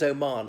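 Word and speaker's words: O'Mahony: France or um yeah Oh Marni okay I know it sounds like someone who's from a country called Oman but it is Oman the H is silent it's not Mahoney but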